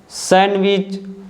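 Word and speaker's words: sandwich: है जैसे कि ग्रैंडसन सैंडविच इसको आप सैंडविच नहीं पढ़ोगे यहां पर डी साइलेंट है हैंडसम और ग्रैंडमदर तो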